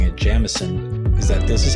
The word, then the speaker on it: Jameson: By the way, the reason I keep pronouncing it Jamison is that this is how the tour guides